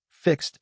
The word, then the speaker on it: fixed: I will check two more, fixed and washed. Fix ends with the K and S sounds, and watch ends with CH. Both are voiceless, so both past forms use the T sound.